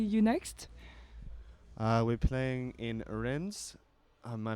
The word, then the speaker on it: Rennes: We're playing in Rennes. My pronunciation of that city is really bad. I meant. Say it. Rennes.